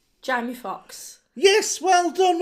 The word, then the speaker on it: Jamie Foxx: His surname rhymes with Box, and his first name rhymes with Amy. Jamie Foxx.